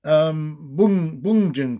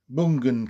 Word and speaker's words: Bjugn: abysmal part in the Bungen case, which is spelt Bjugn. Can't pronounce Norwegian properly, but sounds like Bungen case, where a vast number